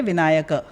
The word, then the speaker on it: विनायकः: तो रामः, जैसे आपका नाम होएगा विनायकः, विनायक नहीं। हाँ। राइट। हिंदी में विनायक बन जाता है, हाँ। पर एक्चुअल नाम आपका है विनायकः। हाँ। और अगर संबोधन में आपको बोलेंगे विनायक, क्योंकि संस्कृत में कोई